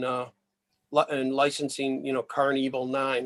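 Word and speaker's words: Karn Evil 9: interested in in uh and licensing you know car and evil 9 it's spelled k-a-r-n evil 9.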